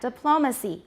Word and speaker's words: diplomacy: direct creations of words so we have the stress on the first syllable and all of these diplomat photograph monotone but look at the second syllable we have a choshan we have an abstract noun made from these it's still a noun but the sh the stress has shifted to which syllable the second diplomat diplomacy photograph photography